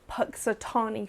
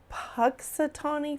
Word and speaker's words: Punxsutawney: But it's going to be really interesting to see what Punxsutawney Phil sees this year. I say his name wrong all the time. It's Punxsutawney Phil.